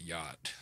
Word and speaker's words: yacht: and then you get yacht. Like yacht comes up. Like what the fuck? What's this? There's like three silent letters in that bitch. Yacht. There's a fucking C in it.